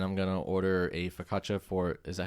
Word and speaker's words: focaccia: I'm going to get spaghetti and meatballs, and I'm going to order a focaccia for, is that how you say it? Focaccia?